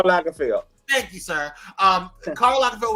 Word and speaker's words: Karl Lagerfeld: This theme, I forget how to pronounce his last name. Karl Lagerfeld.